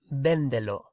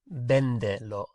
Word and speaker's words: véndelo: Véndelo. Véndelo.